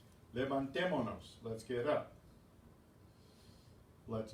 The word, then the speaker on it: levantémonos: Have the accent on the stressed syllable. Levantémonos.